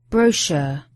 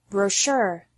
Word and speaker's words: brochure: first is worse stress some words particularly those of French origin are emphasized differently in American English with the last syllable stress in American English and the first syllable stress in British English particularly